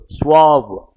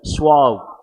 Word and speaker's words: suave: Next one, careful with the pronunciation of this particular word, suave. How do you pronounce it? Suave.